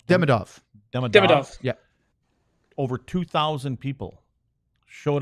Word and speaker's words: Demidov: Demidov? Demidov.